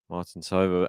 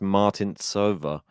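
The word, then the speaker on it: Martincová: to go cross court martin sober anticipated it put it away yeah alex and how do you say this pronounce it apparently it's martin silva so i think i've done it wrong apologies i should have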